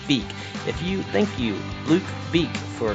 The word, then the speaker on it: Vike: You see the way something's spelled, Vike, Vike is how his last name is spelled. I just can't keep from calling him Luke Vike. I'm sure I've said it a few times in this episode, but it's Luke Vike.